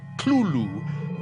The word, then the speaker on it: Cthulhu: tells a colleague well it's really meant to be two syllables uh you're supposed to put your tongue at the roof of your mouth and cough it out like clueless but he says you